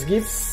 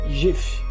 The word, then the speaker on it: Giff: A metade deles dizem Giff, que esse G é mais forte, e outros dizem Jiff, com um G mais fraco.